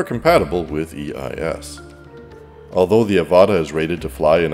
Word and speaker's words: Avata: Because I'm from Canada, and we have a healthy disregard for pronouncing the letter T correctly, this is the DJI Avata. Some people say Avata, others Avata, but they're just plain weird and, well, we're moving on.